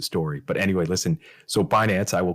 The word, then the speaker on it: Binance: that pronounce Finance Finance I've heard them refer to binance as bance and I'm like that's just so wrong okay don't do that